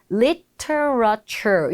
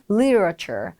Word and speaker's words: literature: 여기서 발음이 조금 어려우실 수는 있어요. literature. 요게 이제 문학이라는 표현인데요. literature, literature. 이렇게 좀 이렇게 흘러가는 소리가 납니다. literature. literature 이렇게 L 발음도 있고 R 발음도 있으니까 발음이 좀 정확하게 되실 때까지 충분히 반복을 해보세요.